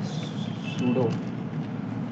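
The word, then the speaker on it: pseudo: selector काय spelling असेल सुडो P silent असतो पण ठीक आहे नंतर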